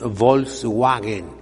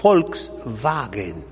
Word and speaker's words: Volkswagen: ¿Cómo se dice en alemán? Volkswagen. Aquí decimos Volkswagen, pero es Volkswagen.